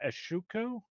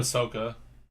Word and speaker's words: Ahsoka: Like I got Anakin, I got Obi-Wan, and I got Ashuko. Is that how you say her name, Steven? Ahsoka. Ahsoka.